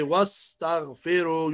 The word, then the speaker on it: واستغفروا: فاتن واستغفروا واستغفروا Yeah, don't say wa-astaghfiru. Say wa-astaghfiru. You have to hide. Alif is silent.